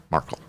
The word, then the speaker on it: Markle: Markle. So you emphasize the A? Markle.